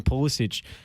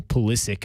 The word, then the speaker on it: Pulisic: doing a good job christian pulisic or pulisic i should say is he pronouncing christian